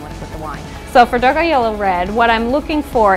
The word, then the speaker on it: Dogajolo: This is a 70% Sangiovese, 30% Cabernet Sauvignon from Tuscany, and the wine is pronounced Dogajolo.